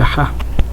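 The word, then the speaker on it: ح: Après ça c'est le ha. Ha. Donc jim ha. Vous voyez le ha par exemple lorsque quelqu'un court, il est fatigué, qu'est-ce qu'il fait? Donc ha. Ha. Ha.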